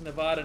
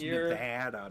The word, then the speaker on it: Nevada: It's pronounced Nevada, not Nevada.